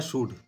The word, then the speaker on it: should: topic है वो है शुड शुड शुड एस एच ओ यू एल डी शुड में एल साइलेंट होता है इसको याद रखिएगा इसको शुल्ड नहीं बोलिएगा शुड बोलिएगा तो चलिए इस पर